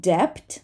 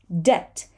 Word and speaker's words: debt: so here we have a silent B and the b t pattern so this is not depth but instead we say debt debt we do not say the b debt and I can